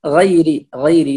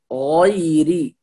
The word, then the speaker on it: غير: هنا الغين مفخمة، فلا نقول غيري، لا، هنا نفخم الغين ونفتح الفم ويكون التفخيم واضحا، فنقول غيري، والياء هنا مرقق ساكن، والراء مكسورة مرققة، فنقول غيري المغضوب.